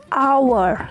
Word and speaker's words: hour: hurufnya lupdir sample disana ada kata hour yang ditulis menggunakan huruf konsonan Khan huruf H hal itu termasuk konsonan tapi kita bacanya our yang kalian dengar itu bukan suara konsonan tapi suara vokal yang mana hour maka dari itu kita menggunakan n walaupun ditulisnya menggunakan huruf konsonan tapi suaranya Suara vokal begitu nah kalau contoh